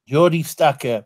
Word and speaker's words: Jordi Stucker: him to tell you his name is named Jordi Jordi Jordi Stucker he said you don't